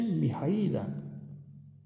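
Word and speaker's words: Mihăilă: E quindi si dice Mihaila.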